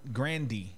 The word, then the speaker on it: Grande: totally takes her away from Taco Bell Grande grandi is how her whole family pronounces very mad because apparently the story was